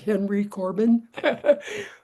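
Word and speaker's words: Henri Corbin: French philosopher Henry Corbin we would pronounce that Henry Corbin he proposed he was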